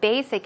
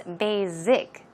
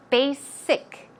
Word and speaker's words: basic: pronounce that word as basic. Z sound, that is incorrect. Try to pronounce it with a SS, a thick S sound. So it's basic, basic.